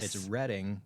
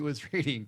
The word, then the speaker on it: Reading: Reading, Pennsylvania, uh, interestingly enough, is uh, if you play the game Monopoly, the Reading Railroad, which everybody pronouncs as Reading Railroad, it's it's reading and it's for that.